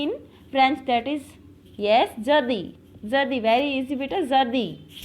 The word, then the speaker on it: jeudi: How we will pronounce Thursday in French? That is, yes, jeudi.